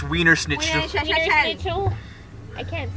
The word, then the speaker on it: Wiener Schnitzel: It's pronounced Weiner schnitzel. Wiener? It's Wiener Schnitzel.